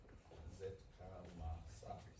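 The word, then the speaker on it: Zitkála-Šá: And this is how you pronounce her name. Zitkalasa.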